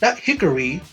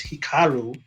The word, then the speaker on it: Hikaru: Now, Hikaru Shida, not Hickory. I don't know what Dasha's doing. Dasha Gonzalez, she needs to get it right. It's Hikaru. The announcers even say it. Say it right, please.